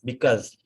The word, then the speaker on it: because: And when we use the word because, the better way of using it's because with the Z pronunciation.